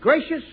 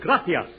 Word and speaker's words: gracias: simple spanish phrase read it please okay mooches gracious amigos no no no not gracious that word is gratias you see in spanish the sea is pronounced th oh gracias you see th you see would you mind